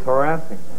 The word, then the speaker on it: harassing: Harassing? I thought it was harassing. No. Accent on the first syllable. Some people put it on the second.